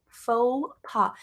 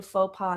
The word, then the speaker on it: faux pas: passe more than one faux pas in this lesson in a faux pas is an embarrassing social mistake an embarrassing social mistake and it sounds like French because we stole it from French so it comes from